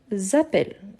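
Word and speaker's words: appellent: c'est plus fermé donc seulement un L ils Appell avec de P et de l e n je ne prononce jamais mais il est toujours là donc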